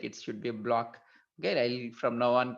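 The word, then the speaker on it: Bloch: happen now the block equation okay people are pronouncing it I think not blot I was using blot in my recording but it looks like it should be a block okay I'll from now on call it as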